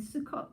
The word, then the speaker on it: Sukkot: and Sukkot.